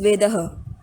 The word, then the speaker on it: वेदः: वेदः, वेदः, वेदा, वेदा, वो ऐसे ट्रांसफॉर्म होते होते वेदः का वेदा बन गया।